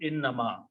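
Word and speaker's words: إنما: Innama. Pronounce them together, write them together. If you write them separately or give a gap in between, the meaning changes.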